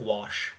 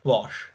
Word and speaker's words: gouache: it um gouache sorry I'm saying it wrong wash wash yes wash paint yeah so she